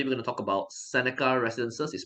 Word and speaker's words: Sceneca: investment and today we're going to talk about Seneca residences is pronounced Seneca Seneca residences and this product is interesting because uh